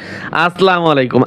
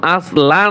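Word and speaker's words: السلام عليكم: তাহলে আমরা যখন মোবাইলে কথা বলবো, অনেকে বলে আসসালামু আলাইকুম, শুদ্ধ মতো দেয় ঢাকার মানুষ, আসসালামু আলাইকুম, আসলা নয়, আসসালা।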